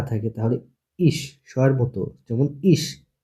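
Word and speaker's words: ich: ভয়েলের পাশে যদি সে হা থাকে, তাহলে এ ই ভয়েলের পাশে যদি সে হা থাকে, তাহলে ইস স্বয়ের মতো, যেমন ইস। ই ভয়েলের পাশে আছে সে হা, এর জন্য এটা উচ্চারণ কি ইস, স্বয়ের মতো, ইস মানে আমি।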